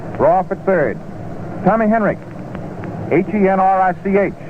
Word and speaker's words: Henrich: Tommy Henrich, Henrich, it's pronounced as though there was a K on it.